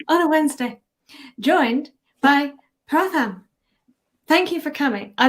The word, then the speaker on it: Pratham: am here again on a wednesday joined by pratham thank you for coming i meant to ask you backstage if it is pronounced pratham is that right yes that is it is